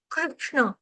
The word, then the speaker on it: कृष्ण: श से शर्मिला श से षटकोण विष्य विष कृष्ण कृष्ण कृष्ण या कृष्ण समझ में आ गया